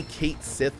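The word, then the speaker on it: Cait Sith: Ki differently than Co I always pronounce it the Irish way cat shei they actually say Kate Sith in this game I think so it's it's a little like uh I think it should be pronounced cat shei like you say um but they I'm pretty sure they say Kate if weapons weren't enough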